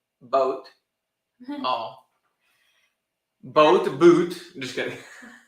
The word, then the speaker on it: Boot: well I'd be surprised Das Boot is actually pronounced boat oh both boot just